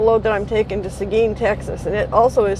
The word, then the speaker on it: Seguin: picking up a load that i'm taking to seguin texas and it also is spelled differently than it's pronounced i mean seguin you would expect it to be spelled something like s-e-g-e and or whatever it's spelled s-e-g-u-i-n so i'm pretty sure seguin is named after